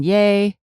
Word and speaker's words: Yeh: I think one of my favorite personalizations from the group order is the one by Morgan Yay. His last name is spelled yeh and he has put yeh exclamation mark on the back of his jacket whenever I think of it.